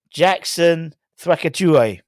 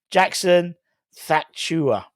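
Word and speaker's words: Jackson Tchatchoua: let's talk about um Jackson Jackson thru that's definitely not you pronounce it Jackson thua that would do um now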